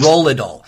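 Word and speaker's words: nerolidol: me is it nural nidol neurod dool yes nurad dool uh please I I have never learned anything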